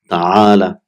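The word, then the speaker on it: تعالَ: So it will be ta'ala. So it's normally it is ta'ala, but it is pronounced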